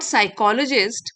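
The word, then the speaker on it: psychologist: What साइकोलॉजिस्ट P silent है।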